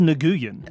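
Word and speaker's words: Nguyen: Vietnamese American who says no no it's pronounced nguan oh yeah for sure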